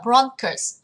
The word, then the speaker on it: bronchus: Mình sẽ học là bronchus, bronchus, bronchus. Trọng âm và âm tiết đầu tiên.